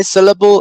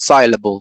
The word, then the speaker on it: syllable: recipe rhythm syllable right we say syllable and not soluble right be careful syllable symbol